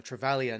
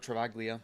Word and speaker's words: Travaglia: Now across here to Callum Wilkey and back here to Travaglia or Travalia, not Travaglia. It's Travali. There's no G in the silent G in his surname.